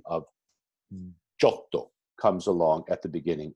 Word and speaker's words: Giotto: And as I've told you time and time again, we have a tendency to mutilate that pronunciation in English to Giotto.